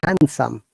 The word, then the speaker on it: handsome: you aware of that in handsome the d is silent we don't need to pronounce d at all if you have pronounced all of your life there's d and handsome then you pronounced it wrongly change it from today okay handsome so in handsome once again are d silent so it is handsome similarly sandwich yeah d